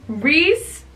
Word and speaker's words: Rhys: Reese, and it's spelled like Reese Larson's name. Not like R-E-E-S-E, it's R-H-Y-S.